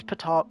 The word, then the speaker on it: petard: you might say, is petard. Yeah, no, it literally starts with a P sound, so of course it's spelled with a P.